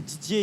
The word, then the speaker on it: Didier: Et Didier et, c'est pareil en fait.